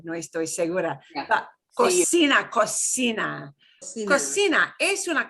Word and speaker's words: cocina: Es una cocina. And it's important not to pronounce it as cocina, muy italiano. That is very Italian, cocina. If you listen to cooking shows, you probably heard cocina, cocina, or cucina.